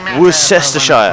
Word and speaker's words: Worcestershire: Worcestershire?